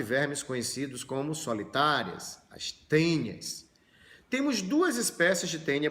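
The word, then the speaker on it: Taenia: de porco duas observações primeiro escreve tainha mas a pronúncia do em latim é é então você não fala tainha você fala tenha assim como o mosquito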